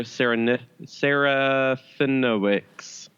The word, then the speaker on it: Serafinowicz: Most people probably know him as Peter Serafinowicz.